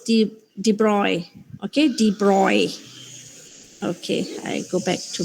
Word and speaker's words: de Broglie: actually yeah so it's the de broglie okay dee broy okay i go back to my yeah yeah